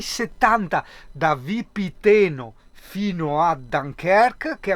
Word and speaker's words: Dunkerque: Il navigatore mi ricorda che Dunkerque si pronuncia Dunkerque.